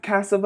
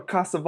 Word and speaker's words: Cassavaugh: name so they cast cassava or cassava or is like castle always good it's pronounced Casanova with no no that's that's right that's